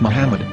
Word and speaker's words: Muhammad: According to Ben Yehuda's Hebrew English dictionary, it is correctly pronounced as Muhammad, not Mammoth.